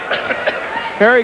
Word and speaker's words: Gerrie: It spelled like Gerrie, but he pronounces it like Harry. He says Harry Coetzee, although Jimmy Lennon called it Gerrie, but always in the past he liked it pronounced without the J sound.